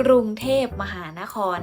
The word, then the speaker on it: กรุงเทพฯ: แหละ ค่ะ อ่า อ่า อัน นี้ เวลา อ่าน เรา จะ อ่าน กัน ยัง ไง คะ เรา จะ ต้อง อ่าน ว่า กรุงเทพฯ นะ คะ นัก เรียน เครื่อง หมาย